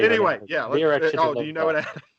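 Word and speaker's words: Věra Chytilová: Vera Chittilova. Do you know it? Vera Chittilova. Great, that sounds awesome. It's one of the odd times where it's you say it like it looks.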